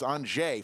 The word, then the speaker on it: Anže: Anže, we were pronouncing his name wrong last night. It's Anže from Slovenia.